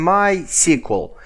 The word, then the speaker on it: MySQL: actually i'm saying sqlite and mysql because it's easier for me it's somehow logical but some people are saying uh sequel light and my sequel so if you have